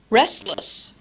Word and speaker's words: restless: Restless.